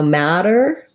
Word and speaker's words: matter: pronounced exactly the same they both have a flap so it sounds a little bit like a d so matter sounds the same as